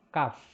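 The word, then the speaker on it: כּ: Kalau dia ada titik, maka dia Kaf. Jadi kalau tanpa titik, transliterasinya adalah KH. Dengan titik itu adalah K. Kaf dan Khaf.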